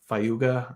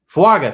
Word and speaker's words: Fuaga: can't remember how to say his name uh fuga I don't know messed that up but fuaga thank you um not not too far out